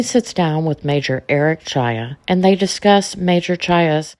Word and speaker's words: Czaja: yeah first of all congrats on pronouncing my last name correctly that I don't I don't get that a lot so yeah Eric Eric Chia I went to Marquette